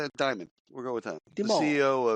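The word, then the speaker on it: Dimon: D I M O N Deone. Demon. Any why I didn't lead off with the story. I did not say his name. Diamond.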